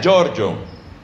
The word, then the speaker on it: Pier Giorgio: se oye Pierre, Giorgio, que en italiano se pronuncia Giorgio.